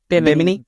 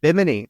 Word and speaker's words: Bimini: One of the things you mentioned was the beach club at Bimini. Is that how you pronounce it? Bimini. Bimini.